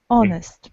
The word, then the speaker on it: honest: is not pronounced and the word starts not with h but with o honest we do not pronounce